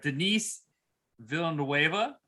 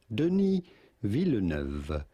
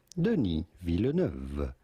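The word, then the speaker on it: Denis Villeneuve: Uh, and so, uh, Dune, uh, Denise Villa, his take on it. Did I get that right? I believe it's pronounced entirely differently, but I don't know how.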